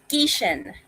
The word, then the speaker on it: Gieschen: So, my name, the pronunciation of my name? Please. Geishen.